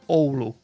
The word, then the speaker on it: Oulu: And by the way, it's pronounced Oulu. Oulu. Oulu. Thank you for It's that. a softer O.